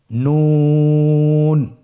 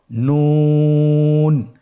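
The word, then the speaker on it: نون: নুন হরফটি উচ্চারণের ক্ষেত্রে অবশ্যই পাতলা করে উচ্চারণ করতে হবে এবং 3 আলিফ টেনে পড়তে হবে। আপনারা আমার সাথে বলুন নুন। আরেকবার চেষ্টা করুন নুন।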